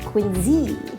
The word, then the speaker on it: Quincy: be spelled with a Cy but it is pronounced by the locals here and Z as in Quincy Mass also from Quincy is the American coffee